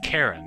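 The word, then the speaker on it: Charon: the way it's pronounce Karen this a c h a r o n but it's pronounced with a hard C jaren's boat is an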